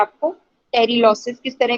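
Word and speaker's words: pterylosis: उससे ही आया है ये वर्ड, पोटेजियम से ही टेरिलॉसिस, पी साइलेंट है उसी से ही वर्ड आया।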